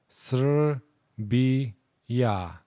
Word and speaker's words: Srbija: row, but in reality, there is that semi-vowel right after the letter r. So let's pronounce it slower. Sr, bi, ya.